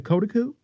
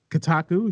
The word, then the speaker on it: Kotaku: ian walker over at the cotaku or kotaku if you want to say it properly um and i i